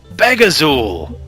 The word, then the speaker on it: Begazul: Can I cut in and say, I'm going to pronounce it myself. Begazul? Begazul! That's the one!